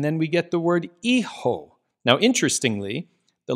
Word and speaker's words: hijo: Okay, and then we get the word Hijo. Now, interestingly, the letter H, or as we call it in Spanish, H, is not pronounced. So you almost have to pretend that it's not there.